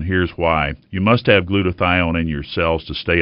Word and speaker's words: glutathione: Glutathione. Doctor, what is glutathione? Am I pronouncing it right?